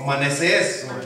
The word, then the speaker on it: Manasés: Hay una historia en la Biblia, Manases. ¿Alguien sabe o alguien ha escuchado ese nombre? Manases o Manasés, o con el acento en la E última.